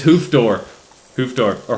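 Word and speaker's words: Hoofddorp: that's quite a class it's spelled in such a way that you would pronounce it in English hoop dwarf and I think that's beautiful it looks so far literally I get off the the plane hoof door it's hoof door hoof door or hoof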